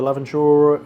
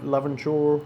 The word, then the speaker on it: Laventure: So, the Lavendure Laventure is how you pronounce it.